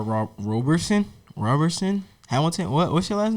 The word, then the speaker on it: Roberson: ass homeboy his name carl d r rob roberson robertson hamilton what's your last name it's roberson what robert robertson can you spell that it's r-o-b-e-r-s-o-n robertson okay yeah um i